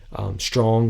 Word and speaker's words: Strachan: I mean, look at the play to Strong, which Strachan is how it's spelled.